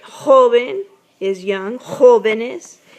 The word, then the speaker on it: jóvenes: Jóvenes. Now, joven has no accent on the O, but when you attach this ES at the end, it does have an accent on the first part, the first O.